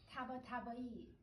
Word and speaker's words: Tabatabai: Tabatabai.